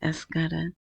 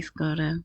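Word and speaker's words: ASYCUDA: I say escada, but they say scoda, whatever, tomato, tomato, right?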